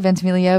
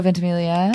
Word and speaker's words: Ventimiglia: um my please welcome milo ventimiglia thank you ventamilia right vince emilio ventimiglia yes emilia oh that's wonderful uh and at